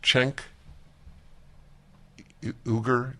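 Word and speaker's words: Cenk Uygur: know Barren media okay it's just being pronounced chenk ooger check I feel a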